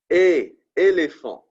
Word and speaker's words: éléphant: but in this case, when you add the accent aigu, right, the tick mark going up, right, you pronounce it similar to the word A in the English, okay? For example, right, éléphant, right, éléphant, right, similar to the sound of the letter A in English, okay?